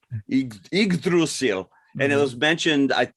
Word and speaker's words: Yggdrasil: I'm not even going to attempt to pronounce the word. But. It's Yggdrasil. Yggdrasil.